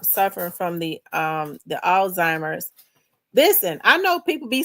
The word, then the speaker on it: Alzheimer's: I said, "Oldtimer." She said, "No, it's not old-timers. It's Alzheimer's with And you don't say the Z." I said, "All allhe?" She saidheimer. The Z is silent.